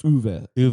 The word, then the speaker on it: Uwe: It's Uwe.